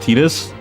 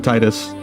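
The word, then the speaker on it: Tidus: Technically, it's pronounced Tetus. Oh my goodness. I wish I was cor so I didn't kept call keep calling him Titus, but that is a dumb pronunciation.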